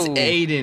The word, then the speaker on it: Aiden: It's Aiden, not Ryan.